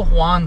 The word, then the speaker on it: Juan: मैंने उसको, उसका जो सही नाम था वो हुआन था, मैंने उसको जुआन बोल दिया. He looked at मी, ही is like excuse me, my name is हुआन, नॉट जुआन.